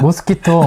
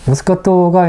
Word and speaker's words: 모스카토: 제가 얼마 전에 그 레스토랑 갔다가 이렇게 잔인으로 모스키토 하나 달라고 했다가 모스키토 예 완전 그 직원이 대놓고 막 이런 그 직원이 좀 매려가 없었네요.